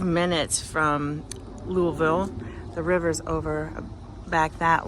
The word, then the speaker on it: Louisville: That's how you pronounce it. Louisville, say it like you're drinking bourbon.